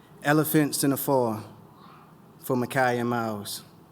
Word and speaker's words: Micah: And we pronounce Micah as we wanted, Mackay, because like the kid from Clockers, we scrape fists and cuffs for the dreams of you.